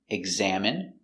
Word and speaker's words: examine: so remember these words words ending in i and e can have different pronunciations all of these have the sound in Imagine examine engine discipline feminine and masculine thank you for watching